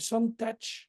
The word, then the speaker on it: Santatra: Donc une jeune fille qui s'appelle Santach, heu, Voilà. qui s'écrit Santatra, qui a 23 ans,